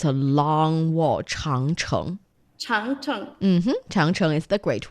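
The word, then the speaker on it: 长城: Changcheng.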